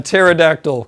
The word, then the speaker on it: pterodactyl: can't you hear a pterodactyl go to the bathroom because of the P is silent because because you spell